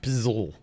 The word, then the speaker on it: pizzle: Beach County slag yeah PSL if you uh pronounce that out pizzle yeah Port St Lucy